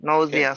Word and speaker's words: nausea: diarrhea constipation nausea nausea nausea is how we pronounce the word nausea sorry all they are